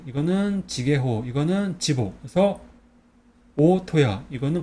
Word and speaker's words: 大戸屋: 그래서 이거는 큰데는 오라고 읽고 집게는 토라고 읽어요. 그 다음에 집옥은 야라고 있습니다. 그래서 오토야라고 있습니다.